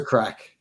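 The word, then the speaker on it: craic: What's the crack? What's a cracking? It's spelled C R A I C. It's Irish crack.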